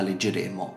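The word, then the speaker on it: legere: caso in cui la penultima sillaba abbia una vocale breve l'accento retrocederà alla sillaba precedente e quindi in questo caso leggere e non leggere questa è la legge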